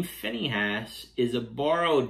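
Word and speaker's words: Phinehas: going to begin with his name the name Finney has is a borrowed name from the Egyptian language in Hebrew his name would have been pronounced pin Haas but his name is not Hebrew his name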